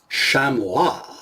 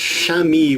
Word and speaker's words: chamois: ahead and take a look at the Joker shamwa so is the name of the knife supposed to be pronounced shami or shamua well if you're talking